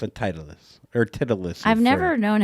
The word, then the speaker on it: Titleist: It's a titleist or titleist. I've never known how to pronounce that. Someone says Titulus. No. No, okay. Well, No. the hat. It's a Titleist hat.